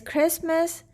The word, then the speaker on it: Christmas: with the silent tea inside the word is christmas then we have another unusual word but this